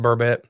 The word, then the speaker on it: burbot: bbon Paul burbot burbet bbot is how it's spelled but pronounced burbet maybe he's Lindo is